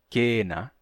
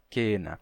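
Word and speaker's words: cena: mudou com o tempo vamos pegar uma palavra como ah Kena que nos deu seia em português como a seia de Natal etc né seia vem de Kena que que aconteceu o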